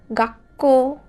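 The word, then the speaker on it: がっこう: Now this is pronounced as a hard stop or a silent stop. For example, gakko. We emphasize on the kana, which is just after the small stu.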